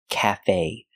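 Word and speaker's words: café: word this is Cafe we stress both syllables it's not Cafe and it's not Cafe it's CA stress both syllables equally Cafe the short a like black cat calf the E is pronounced with a long a like say and pay Cafe Cafe CFE a cafe is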